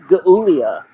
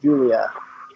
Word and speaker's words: Giulia: I'm really surprised we didn't get a Gulia. Okay, no problem. We need to Giulia. That's pronounced Julia.